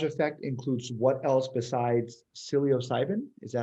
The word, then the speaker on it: psilocybin: The entourage effect includes what else besides psilocybin? Is that how you pronounce it? Psilocybin, yeah.